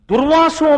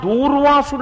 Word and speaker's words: దుర్వాసు: ఒక మాట అంటున్నాడు అంటారు ఆ దూర్వాసు దూర్వాసుడు అంటుంటారు దూకి దీర్ఘం ఇవ్వకూడదు తప్పు అది ఉచ్చారణ తప్పు దుర్వాసు మహర్షి ఆయన కోపానికి